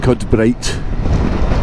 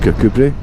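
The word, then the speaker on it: Kirkcudbright: doesn't matter uh most people will know that kod bright is actually pronounced kbri um but as an English person if you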